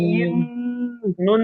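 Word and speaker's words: إِنَّا: হামজা নুন জের ইন। নুন জবর না, নুন জবর নুন না। জবর না। ইন্না, ইন্না। ইন্না। হ্যাঁ এই না টান দিচ্ছেন কেন ভাই, না টান দিয়ে যাবে না, হরকতের উচ্চারণ তাড়াতাড়ি পড়তে হয়।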